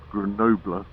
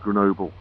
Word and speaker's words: Grenoble: today we're off to greno grener grener had another biker outside the hotel the morning he corrected me on my uh pronunciation I was saying Grenoble it's not it's Gren apparently we're off there today